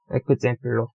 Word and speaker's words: ekzemplo: 얘는 이렇게 소리 납니다. 뭐 예를 들어 example로 예 예시 example로 example로 example로라고 안 하고 example로라고 합니다.